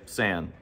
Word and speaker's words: San: s if you're tracking this online you may pronounce it s but I'm going to say San so in southern Africa in this desert region